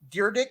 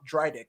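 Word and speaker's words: Dyrdek: mean if uh rock some people call him deardick i think that's the correct pronunciation but i grew up probably less cultured and i just called him rob drydek of fantasy factory and uh well i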